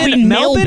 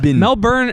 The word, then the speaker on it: Melbourne: make my on this melin is how people say it with an Australian accent melburn Mel Bur matx is like how an American would say it and then the